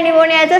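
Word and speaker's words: pneumonia: Spelling काय आहे निमोनियाचं? Starting P पासून होतं बट प्रोनाउन्सिएशन निमोनिया आहे.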